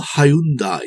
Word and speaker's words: Hyundai: more so here's one for hyundai or hyundai to use the traditional uk pronunciation deployed here by simon